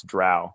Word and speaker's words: drow: Folks who weren't around in the dark ages of pre-internet do not know the fights we would have over how you pronounce drow, right?